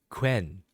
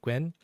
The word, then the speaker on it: 괜: And then this is the hard part. Gwen. We think of like Gwen. The name Gwen is fine. Gwen.